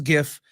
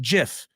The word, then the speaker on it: GIF: creator of the format says GIF it is GIF I don't care what delusion everybody else in this world who says GIF I don't care what you all say I